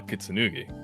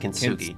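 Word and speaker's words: Kintsugi: establishment like Bar Kitsanugi. That's pronounced kinsugi. Kinugi. Kinsugi. Three syllables.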